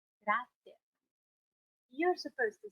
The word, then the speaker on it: grazie: Grazie. You have to make sure you pronounce the GR at the beginning and the Z at the end. Grazie. Grazie.